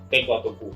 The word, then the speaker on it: Teko Tuku: Nah, Om Widi ini owner dari Sunny Story dan Teko Tuku. Teko Tuku atau Teko Tuku bacanya Om?